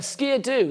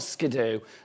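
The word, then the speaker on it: Ski-Doo: Oh, apparently it's a ski-a-doo. That's a ski-a-doo, not a skidoo.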